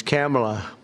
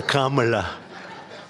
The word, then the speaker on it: Kamala: It's Kamala, as opposed to Kamala.